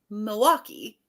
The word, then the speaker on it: Milwaukee: going on I'm like I don't emphasize the L like Milwaukee so I guess I